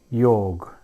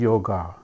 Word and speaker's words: yoga: example on this is of course yog which is so bastardized in the entire world including in india to be pronounced as yoga there is no such